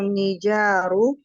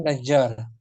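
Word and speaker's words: نجار: Yasna'u nijaru fi di sini pelakunya ini. Pelaku ya. Tukang kayu itu Najjar, dibacanya Najjar. Jadi bukan nijar.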